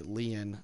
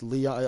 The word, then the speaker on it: Lian: We played Lian last, or Lian, Lion. I don't know how you pronounce her name. This chick. Leon. Leon, it's Leon. I was wrong completely on all three.